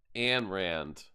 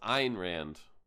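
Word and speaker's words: Ayn Rand: Atlas Shrug that lady everybody always says uh an Rand an Rand but actually her her name is pronounced Ein Rand and and people are like what iron ran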